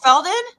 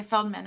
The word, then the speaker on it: Feldman: it his voice what did I already say his last name wrong what's the what's the last name felt men I know okay Feldman okay That's My Generation by